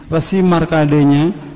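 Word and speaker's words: Markandeya: Islam Ayah Bunda ya jadi bahasanya kita pakai ejakan sanskrit asli jadi baca bacanya Resi Resi markadenya dengan beberapa sapi juga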